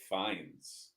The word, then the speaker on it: Fiennes: His name is actually pronounced Ralph Fiennes.